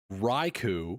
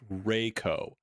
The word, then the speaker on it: Raikou: still streaming on TT, said that Raikou, which is how I say it, Raikou, is not pronounced that way. It's pronounced Rayco.